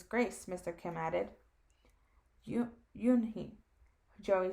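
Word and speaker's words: Unhei: joey she nodded slowly yes it's pronounced oon hi and it means grace mr kim added you yoon he joey said slowly and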